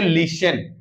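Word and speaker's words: listen: एन देखें टी एन टी सी एच होने पर टी साइलेंट होगा कब ये लास्ट में अगर आएंगे किसी भी वर्ड में जैसे एल आई एस टी ई एन देखो टीई एन लास्ट में आया इसको पढ़ेंगे लिसन लिसन इसको पढ़ेंगे एम ए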